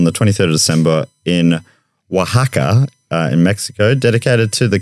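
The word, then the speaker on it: Oaxaca: event held on the 23rd of December in Wajaka in Mexico dedicated to the carving of oversized radishes.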